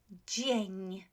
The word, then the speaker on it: dzień: So let's look at this word, dzień, dzień, okay? So G, right? G, our trigraph, yes? And we also have n, so dzień, dzień, right? So dzień dobry, dzień dobry.